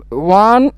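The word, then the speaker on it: one: এই যে ওর উচ্চারণ হচ্ছে ওয়ার মতো, ওয়া।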